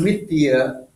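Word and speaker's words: mithyā: You see, the word mithya actually is a long A at the end. Or write two A's, actually, it's better.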